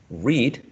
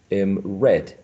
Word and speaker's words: read: Tenemos la misma palabra, pronunciada de manera distinta, el sonido vocálico, y cambia a e cuando es pasado.